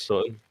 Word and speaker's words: Sutton: But I think am I saying your name wrong when I say Suiton? Isn't it more like Sutton, kind of? How do you Yeah, pronounce it's it? Sutton.